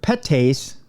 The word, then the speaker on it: PETase: One enzyme in particular, petase, I can pronounce that because it's PETase. Petase. That's like the rich part of that. Like you have pate, you have petase.